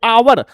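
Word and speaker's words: hour: ए भरेंगे नहीं क्योंकि इसका एच जो है वो साइलेंट है और हम लोग ओ ओ पढ़ते हैं आगे आवर बड़ा आगे आवर इसलिए एन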